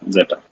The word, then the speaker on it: Z3ta: How should I pronounce this? Zeta, That's right? correct. Zeta.